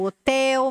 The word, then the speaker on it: hotel: da palavra hotel Rê Hotel galera stress segunda sílaba Ok então não vou